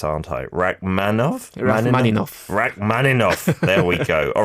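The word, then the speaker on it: Rachmaninoff: performance of a rakman and I'm going to mispronounce this aren't I Rak manov man Rak manov there we go all right so you've already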